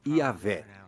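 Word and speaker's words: Yahweh: eram essas quatro letras y H w h que provavelmente eram pronunciadas yavé mas esse nome aparece somente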